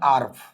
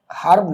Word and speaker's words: herb: আর একটা ওয়ার্ড আমরা একটু লিখি, যেমন আমরা যদি এখানে লিখি হচ্ছে HERB, উচ্চারণটা হচ্ছে আর্ভ, হার্ব না, এটা হচ্ছে আর্ভ, এটা হচ্ছে ভেষজ জাতীয় উদ্ভিদ।